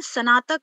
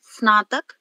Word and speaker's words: स्नातक: आपने स्नातक बोला, सर ने बता दिया है, स्नातक नहीं स्नातक, स्तर। आप चाहे तो फिर से एक बार उच्चारण करके मुझे बता सकती हैं 2-3 शब्दों का। जी मैम, मोनिका मैम, स्नातक। जी मैम, स्नातक। हाँ, तो आपको इसका अभ्यास करना पड़ेगा, है ना। स पूरा नहीं है, स आधा है, स्नातक।